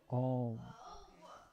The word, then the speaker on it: AUM: Like it's spelled AUM, but it's pronounced Om.